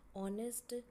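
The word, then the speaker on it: honest: ऑनेस्ट आगे एच लगाया पर एच क्या है? साइलेंट है.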